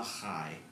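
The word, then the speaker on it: חי: you still have it this is called a high which is spelled c-h-a-i not to be confused with the t i cannot believe that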